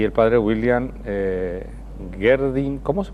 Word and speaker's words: Gerdin: Para ello nos acompañan la profesora Graciela Barreto, miembro de esta pastoral, y el padre William Gerdin. ¿Cómo se pronuncia tu apellido?